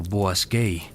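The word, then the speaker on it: Boğazköy: En 1906, arqueólogos alemanes comenzaron excavaciones en Boaskei, pronunciado Boasquei, en Turquía central.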